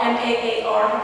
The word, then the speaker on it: Maar: Dorothy Tanning, Frida Kahlo, I think her last Dora Maar, M-A-A-R, what's the pronunciation for that?